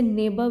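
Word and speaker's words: neighbour: नेबर यानी पड़ोसी से और इसे हम नेबर ऐसे बोलने की जरूरत नहीं अगर हम इसे नेबर भी बोलेंगे आर ल मोस्ट साइलेंट होता है नेबर तो उस क्रोधी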